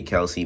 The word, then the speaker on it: Kelce: I say Kelce. A lot of people say Kelsey, but I've personally called him Kelce. I don't. That's just how I call. That's what I call him. You feel? I'm not pronouncing his name wrong on purpose. No, actually, I am pronouncing his name wrong on purpose. That's what I actually call him, Kelce, not Kelsey.